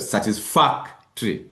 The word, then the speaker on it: satisfactory: Where is your syllable? The Stress? third from the last. Good. Satisfactory.